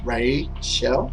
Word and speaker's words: Ray Shell: And it's spelled R-A-Y and then Shell, so like Ray Shell.